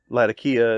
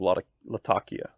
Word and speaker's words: Latakia: It sounds weird that I would, it's like when someone says Latakia and then someone else says Latakia, and I'm like Latakia.